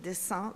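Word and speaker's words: dessein: In French, we distinguish dessin et dessin. The pronunciation is absolutely the same.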